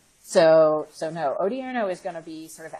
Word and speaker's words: Odierno: as behind this strategy as Hagel is particularly Odierno did I pronounce that correctly yes yes and Odierno is